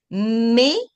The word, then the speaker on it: mais: Merci, mais au revoir. Mais. So the S we don't pronounce.